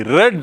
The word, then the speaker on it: read: Form क्या कहलाता है, कैसे उच्चारण होता है, टू रीड, present form. Second form जो है पास्ट, उसमें उसका उच्चारण हो जाता है रेड, आई रेड, जबकि स्पेलिंग वही रहती है। और थर्ड फॉर्म में भी स्पेलिंग वही रहती है, READ, लेकिन उच्चारण रहता है रेड। सो रीड, रेड, रेड।